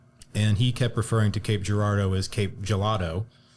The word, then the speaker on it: Cape Girardeau: So locals here, we call it Cape Gerardo, but a lot of times whenever someone else is trying to pronounce it or you like the funniest thing was like the infomercials on TV, if it ever referenced Cape Gard, it was always Cape Giardo.